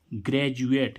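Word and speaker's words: graduate: अब देखो यहाँ पर डी का उच्चारण क्या हो रहा है? जा। क्या हो रहा है? जा। तो क्या जब भी डी के बाद में यू ए एल आए या फिर यू ए टी आए, तब डी का उच्चारण क्या होता है? जा होता है। तब हम डी को क्या पढ़ेंगे? जा पढ़ेंगे।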